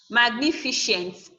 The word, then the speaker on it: magnificent: Magnificent. This is 4 syllable. So magnificent. So we have shent, the last syllable, fi, second to the last syllable, then ni is the third syllable.